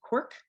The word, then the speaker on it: CWRC: a mouthful so um we just pronounce the uh acronym cwrc quark so if i say cork i am talking about that um and then finally